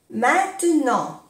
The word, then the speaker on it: maintenant: Maintenant. Ahora. Maintenant. Dès maintenant. Desde ahora. Dès maintenant. Maintenant. No se pronuncia la T.